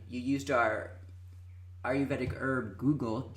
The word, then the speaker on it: Guggul: And you used our Ayurvedic herb Guggul, Guggul. I pronounced that right?